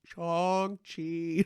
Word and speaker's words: Shang-Chi: So yeah, just Shang-Chi. pretend that the A is an O instead.